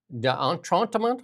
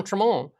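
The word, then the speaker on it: d'Entremont: Um, and that's uh so Chris Dantron, how do you say that again? I'm like terrible. Don, Don Tramon and Michael Ma have both crossed over to the Liberals.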